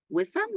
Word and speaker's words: Wiam: list is I believe is it wiam is that how you say your name I apologize if I um mispronounced it yes weam M to a can